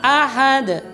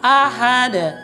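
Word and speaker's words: أَحَد: yang sering terjadi, yaitu ketika menyebut ahad, ahad, dia menghilangkan bunyi a-nya. Kenapa? Karena sudah terbawa dengan wan tadi. Maka dibacanya begini. Dengarkan dengan seksama, ini banyak terjadi kesalahan. Kufuwan ahad, kufuwan ahad, kufuwan ahad. Dia membacanya menjadi tashil. Nah ini salah. Ingat, itu huruf a, tidak tashil. Bacaan yang benar adalah kufuwan ahad. Tidak boleh huruf a-nya atau fathahnya tadi ditashil, disamarkan, tidak boleh.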